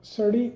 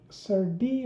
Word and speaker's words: serde: need two crates uh certi is sir d or survey i don't know what is the right pronunciation probably sturdy so sturdy uh is a